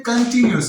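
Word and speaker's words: continuous: नो, कंटिन्यूस, इसे पढ़ते हैं कंटिन्यूस, इसे कॉन्टी नहीं पढ़ना, ठीक है ना, CON, इसे ओ को हमने एक ही साउंड से प्रोनाउंस करना है, कंटिन्यूस।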